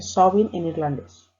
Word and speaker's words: Samhain: Samhain se escribe Samhain, pues se dice Samhain en irlandés.